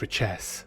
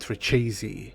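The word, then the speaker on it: Richese: puit richess pruit reesy is it richess or reesy what I'm confused reesi I did some digging and I found the pronunciation of this word so as far as I know richess only comes up in the appendix of Dune some of the Brian Herbert audio books say riches but in David Lynch's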